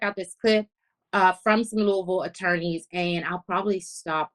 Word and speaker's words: Louisville: Louisville area attorneys discussing, sidebar, I said Louisville, and Louisville is the right way to say it because I had a member of the Snatch Gang check me like, Angie, it's not Louisville, it's Louisville. So I want you to